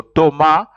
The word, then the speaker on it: Thomas: Thomas Thomas in Frank Thomas is pronounced you don't pronounce the S and then the H is silent so it's pronounced is